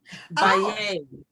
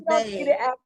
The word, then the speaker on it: Baye: Baye. Oh, thank you for letting us know. We don't like to see people's names wrong. It wasn't an accent on there, so I thought it was Baye.